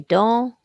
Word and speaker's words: dents: Word for some again, and we've got an E-N, silent letters, des dents.